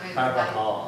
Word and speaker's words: Carvajal: I didn't hear the J. I Yeah, there was a J. I knew the J was H. Yeah. All right. But it's pronounced Caro. Carvajal.